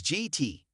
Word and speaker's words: JIT: Ken has opted to abbreviate the invitational tournament as GT, pronounced with a soft J, rhyming with bit, rather than stating the full tournament name outright.